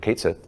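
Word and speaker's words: Cait Sith: I remember it was for Kate Sith, or Ketchi, depending on your pronunciation.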